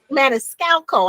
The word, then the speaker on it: Maniscalco: Maniscalco I knew it was time I said everything with Cusco. I say I was missing a syllable.